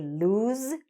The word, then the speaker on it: lose: after me did they lose the game so what's happening with this even though it's written with an s right we're actually saying it like this it actually has a z or zed sound okay did they lose